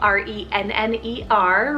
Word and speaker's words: Renner: chast fire i have the name renner spell r-e-n-n-e-r renner and this one means a messenger or